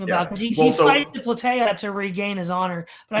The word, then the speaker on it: Plataea: Is that how it's pronounced, Todd? What was that battle called? Oh, Plataea.